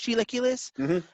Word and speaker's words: chilaquiles: to resemble uh chilaquiles i think the way is pronounced chiloculus yeah um but it's